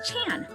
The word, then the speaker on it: Chan: chin tan and tang this symbol is pronounced differently depending on what dialect and even what region you're from see my parents immigrated